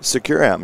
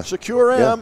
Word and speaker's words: Securam: Living Color and now we are here with securam is that how we're pronouncing it securam yeah secure M and we're here with Steve Davidson the director